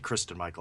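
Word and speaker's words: Christine Michael: we not go with christine you know they got turbine they got michael and i think that uh it's actually kristin michael i believe uh that's that that's how it's pronounced but they have they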